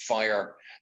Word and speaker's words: FHIR: like um hl7 and fhir which is pronounced fire those sort of adapters